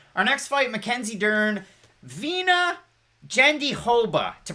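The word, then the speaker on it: Virna Jandiroba: keep it on our next fight mackenzie dern vena gendihoba to pronounce it properly marcus edwards saying love you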